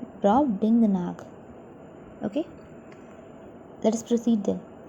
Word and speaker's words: Brobdingnag: So let us pronounce with me Brobdingnag. So together Brobdingnag. Brobdingnag.